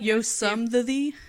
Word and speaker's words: Yosemite: He insists it was Yosemite, even though he didn't pronounce it correctly, at all. What do you call it? Yosemite.